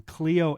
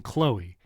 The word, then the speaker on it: Cleo: Friday, and I highlighted a video from Cleo Abram, and for some reason, my brain kept saying Chloe.